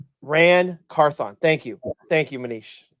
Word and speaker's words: Ran Carthon: firing of Mike Vrabel to the firing of Ron Carth.